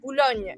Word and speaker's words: Bologne: No, Boulogne. In French, it's not the E. What you say E, it's for French. So Boulogne.